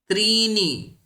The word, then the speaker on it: त्रीणि: अत्र वस्त्राणि नास्ति, अथवा यत्र कुत्रापि नकारस्य नकारवत् उच्चारणं कुर्वन्ति। त्रीणि न, त्रीणि, त्रीणि वस्त्राणि, तथा संस्कृते तथा न भवति। यथा लिखितम् अस्ति तथैव उच्चारणं करणीयम्, अत्र भिन्नता न भवति।